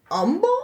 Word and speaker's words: Humble: say humble again his no baby the H is silent he goes oh so it's Umble I was like yes